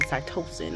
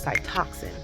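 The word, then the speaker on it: Cytoxan: um adriamycin and cytox I kept saying cytosin I believe it was Cy toxin um so yeah it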